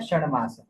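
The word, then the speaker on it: षण्मास: इसमें आपको ण का उच्चारण लगाना है। अब ण ड का उच्चारण तो एक सा ही आता है।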